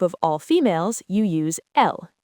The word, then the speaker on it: elles: For a group of all females, you use elles, e l l e s. So, ils mangent or elles mangent. The s at the end is silent in both.